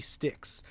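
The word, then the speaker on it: Styx: someone called the lady sticks spelled like the river sticks St YX or the band probably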